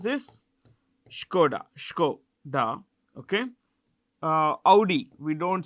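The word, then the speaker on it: Škoda: it owns Brands like skod how do we pronounce this skod skoda okay uh Audi we don't say Audi it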